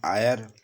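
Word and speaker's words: heir: एन आयर मतलब उत्तराधिकारी। तो इन सब शब्दों का भी उच्चारण हिंदी में आ, औ, आ, एव ध्वनि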